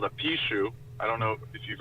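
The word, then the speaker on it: 貔貅: So Pishu, or that would be like the Wade Giles pronunciation. Pishu or Bikyu or Pihu. Pinyin would be Pishu. So there's kind of different intonations of it, but basically it's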